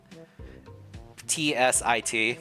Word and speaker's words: zit: Zits. Zits. Zits. Uh, I'm probably saying it wrong. The pronunciation is tsi t, but it's spelled zi t.